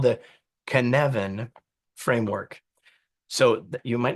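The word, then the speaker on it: Cynefin: valuable it's called the Canan framework so you you might not know how to say that word it's Canan it rhymes with Kevin as it turns out and here's what this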